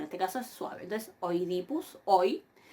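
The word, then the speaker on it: Οἰδίπους: Oidipus. Acá tenemos dos diptongos. El diptongo oi, en donde observan ahí cómo yo pronuncio hoy, y fíjense, ¿no?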